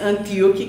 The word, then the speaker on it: Antioquia: Mas a criança de Inácio de Antioquia, tem várias pronúncias. Mas Antíoque, que é a pronúncia que Divaldo faz, por isso que eu estou repassando.